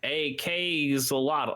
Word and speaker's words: axolotl: Also on the 14th, I think you would just pronounce it the way the animal is, but axolotl, except it's AK, like Elon Musk's child name. Well, like the machine, like the assault rifle. Yes. Because he's an AK-zolotl.